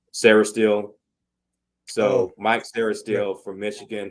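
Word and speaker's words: Sainristil: out of Michigan um Mike how do you pronounce his name s sarahel so Mike sarahel from Michigan he's like a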